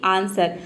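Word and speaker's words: answer: pronounce करते हैं व लेकिन देखिए यहां पे व का आंसर में देखिए व का साउंड कहीं पे भी नहीं आ रहा है मतलब कि डब्लू लेटर साइलेंट है आंसर इसको हम प्रोनाउंस करते हैं आंसर अगर व को यहां प प्रोनाउंस कर देंगे तो ये हो जाएगा आंसर तो व का साउंड नहीं आ रहा है ये होता है आंसर मतलब उत्तर अगला वर्ड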